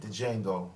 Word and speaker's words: Django: He said, "DJango." The D is silent.